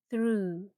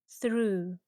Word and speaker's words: through: Very similar, but here the o u makes a sound ooh like in blue. And again, the gh is silent. Through. Through.